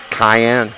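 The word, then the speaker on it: Kheyenne: And number 14, Cayenne Coombs. It's spelled just like it had a C, but on my roster it has a K.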